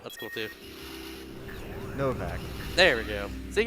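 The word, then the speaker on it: Novac: If you ever played like Fallout New Vegas and see entire Novak, it's pronounced just like that.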